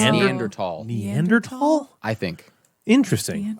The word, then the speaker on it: Neanderthal: I don't think the TH is pronounced in Neanderthal. So it's I think it's Neanderthal.